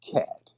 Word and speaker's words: khat: pronounced cat.